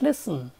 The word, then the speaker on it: listen: think about the word listen L is te and there the letter T is silent in Indian languages we